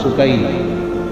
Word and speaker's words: سکینہ: سیدہ میں عرف عام کا لفظ استعمال کروں گا، تلفظ بتا دوں. سکینہ، سیدہ سکینہ، سیدہ سکینہ.